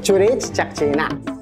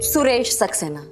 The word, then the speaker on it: Suresh Saxena: You can't pronounce C and S properly. You're right. What is your name? I am Churesh Chaxena. S.. Suresh Saxena?